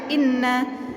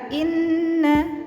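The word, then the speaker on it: إِنَّ: Inna, ditahan dulu ya, jangan langsung inna. Jadi inna ditekan dulu, oke?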